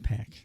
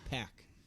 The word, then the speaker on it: PAC: a sense of that I'm pretty sure it's pack too p p Excalibur said Pac and he pronounces everything correctly yeah pack and that's this is